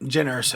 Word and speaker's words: Jyn Erso: She plays Jyn Erso, I think is how you pronounce it. Yep. Jyn Erso.